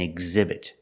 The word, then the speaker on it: exhibit: So remember, sometimes the letter X makes the x sound with no voice, like expensive and excited. And sometimes X makes a gz sound with a voice, like in exit, example, and exhibit. And then we have these